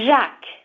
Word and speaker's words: Jacques: It's Jacques. It means James. Okay, my wife was sure about that. So it's pronounced Jacques.